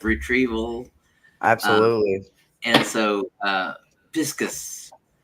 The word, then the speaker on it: Pisces: and so, Piscus for the Latin pronunciation of Pisces.